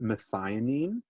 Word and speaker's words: methionine: And the name of that amino acid, it's pronounced methionine, but like I said, we don't need to write all of that.